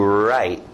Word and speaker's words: write: Esse é um verbo que você faz com a mão e a caneta, escrito W, mas som do R, to write, to write, to write.